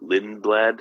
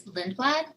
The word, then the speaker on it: Lindblad: Okay, and then your name is Lindblad. How do you spell it, just so people got it? the last name is Lindblad, Lindblad.